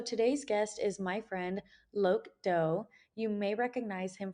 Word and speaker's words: Loc: So my name is Loc, but it's actually pronounced Lop in Vietnamese.